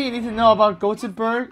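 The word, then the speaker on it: Göteborg: the only thing you need to know about gotenberg it's pronounced jacques berg and everyone is called glenn is that racist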